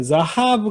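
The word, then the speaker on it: זָהָב: 자하브 같은 경우는 이게 뒤에 옵니다.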